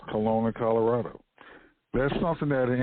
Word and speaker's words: Colona: number 43 for us and that's Kelowna Colorado Kelowna Colorado that's spelled c-o-l-o-n-a one word Kelowna Colorado population varies